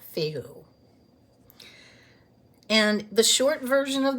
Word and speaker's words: Fehu: In the Anglo-Saxon version, it is spelled Feoh, and in the Elder Futhark version, it is spelled Fehu, but it is pronounced the same, Fehu.